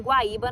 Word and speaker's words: Guaíba: E o I é a sílaba tônica ali nesse caso.